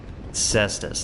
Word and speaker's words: Cestus: Cestus. That's how I typically pronounce it, but it's good to have confirmation. Also, hello Ravvenoff.